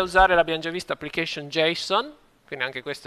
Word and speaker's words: JSON: tutto come Codificare le informazioni noi usiamo questo g-son anzi in realtà la pronuncia corretta è Jason con l'accento sulla prima Vabbè che sta per